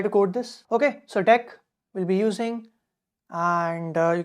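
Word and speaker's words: deque: Dec or dq, it's pronounced dec, but you can call it dq also, whatever you like.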